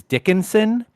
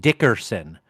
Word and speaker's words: Dickinson: And then the next block down is Dickinson. Almost all the fucking old heads called it Dickerson. No R to be found in that fucking word at all, but they fucking say it anyway.